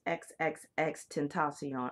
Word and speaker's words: XXXTentacion: And so it's Xxxtentacion.